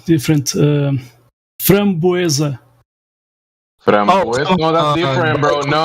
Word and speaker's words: framboesa: Framboesa. Framboesa? No, that's different, bro. No, that's different. That's a different fruit. Oh, you are talking about cranberry. Strawberry and framboesa are two different fruits.